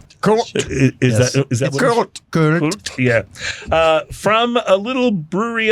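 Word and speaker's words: Köld: Is there an umlaut over the O? There actually is, believe it or not. Perfect. So am I supposed to say cooled? Cool. Is that what? Cooled?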